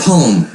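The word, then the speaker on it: P.O.M.E.: and pushing themselves yeah it's called a poem but it's spelled P ome and it's an acronym for a product of my environment I think you would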